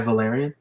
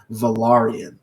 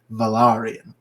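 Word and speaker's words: Valyrian: even teaches her High valerian and I realized uh watching a special for Game of Thrones that it's not pronounced the Valerian it's technically pronounced valarian so the actors who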